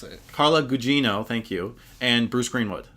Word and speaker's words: Gugino: Jean Gugino as I believe it's how you pronounce it carla Gugino thank you and bruce greenwood I are both